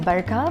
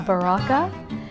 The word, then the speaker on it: Baraka: It's not just Barka, but it's Baraka. So when non-Indians read it, they read it as Baraka. So they pronounce it incorrectly.